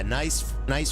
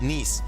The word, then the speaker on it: Nice: Yeah, nice French-looking airport. I love it. It's pronounced Nice.